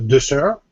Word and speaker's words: dessert: But the sweet that you eat after dinner is dessert, with stress on the second syllable.